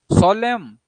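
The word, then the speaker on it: solemn: सोलेम, एन साइलेंट है, सोलेम गंभीर, तो जैसे गंभीर कोई बात हो रही है, डिग्निफाइड सेरेमनीज, सिंसियर, वहां पे सोलेम।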